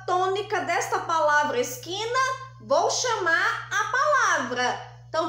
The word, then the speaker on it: esquina: palavra Então vamos chamar esquina esquina qual é o som mais forte é o som do que então aqui eu também tenho aqui a penúltima sílaba é a mais forte por ser a penúltima